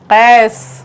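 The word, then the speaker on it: قیس: very good शाबाश तोस अब कैस का सही तलफ्फुज आशुतोष कैस काफ नुक्ते वाला काफ का के नीचे जब हम बिंदी लगा देंगे वो वाला काफ कैस सही उच्चारण चाहिए कैस राजेश कस अब बोले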